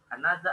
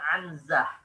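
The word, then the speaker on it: عنزة: Anazah al-harb al-qasir. Ini hati-hati ya akhwat. Bacanya anazah, bukan anzah. Bitaskin nun.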